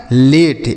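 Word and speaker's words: late: उसके बाद एल ए टी ई यह लिखा है लेट।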